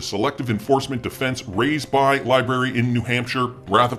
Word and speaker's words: LBRY: SEC files request to file Sir reply regarding motion to strike, citing the SEC versus Library decision, or Libry. I keep forgetting how that company is pronounced, LBRY, decision in which New Hampshire